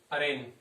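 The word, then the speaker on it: arraign: अरेन, इसका अर्थ क्या होता है अरेन होता है, इसकी जो प्रोनाउंसिएशन होता है वो अरेन से हो जाता है, यहाँ पर जी साइलेंट हो जाता है।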